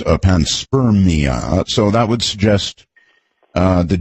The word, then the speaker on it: panspermia: Well, the way you pronounce it suggests to me, I didn't realize it was panspermia.